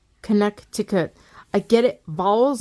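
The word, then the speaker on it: Connecticut: It just says that that C is not pronounced. That second C is not pronounced. Like if it's not pronounced, why is it there? Connect to cut.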